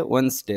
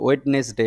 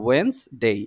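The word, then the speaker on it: Wednesday: এক তারিখ শুরু হয়েছে ওয়েনসডে থেকে দেখেন এইখানে একটু উচ্চারণটা মনে রাখতে হবে ওয়েডনেস ডে নয় এটা ওয়েন্স ডে ওয়েনসডে থার্সডে ওকে এটা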